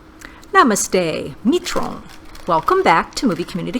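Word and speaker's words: मित्रों: I mean, a lot of people said you don't pronounce the N. And I get that, but it was still difficult for me to actually pronounce it until I realized it's the same concept as saying the last name of the president of France, Emmanuel Macron.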